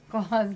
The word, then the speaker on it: Klaus: Claws like claws.